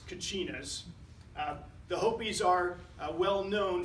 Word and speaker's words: Kachina: It's spelled various ways, sometimes with a CH, but in any case, it's Kachinas.